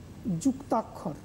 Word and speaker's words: যুক্তাক্ষর: সংস্কৃত ভাষায় আমরা যদি উচ্চারণ করতে যেতাম তাহলে কয়ের নিচে মূর্ধন্য স হতো, কিন্তু মান্য বাংলা চলিতে কয়ের নিচে খ রূপেই আমরা উচ্চারণ করব।